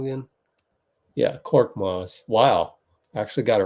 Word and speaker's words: Korkmaz: How do you pronounce his name again? Yeah, Korkmaz.